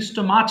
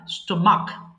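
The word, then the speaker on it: stomach: স্টমাক পেন পেট ব্যথা এটা কিন্তু স্টমাচ হবে না স্টমাক আমরা সবাই জানি স্টমাক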